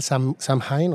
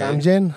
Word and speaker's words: Samhain: un año nuevo llamado pues se pronuncia de varias maneras aquí le vamos a pronunciar el samin o sí samen o lo he escuchado hasta que le dicen el se escribe s a m h a n có Cómo se pronuncia no sabemos vamos de diferentes maneras samaín e Exactamente para